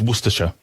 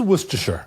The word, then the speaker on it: Worcestershire: It's Worcestershire. It is Worcestershire.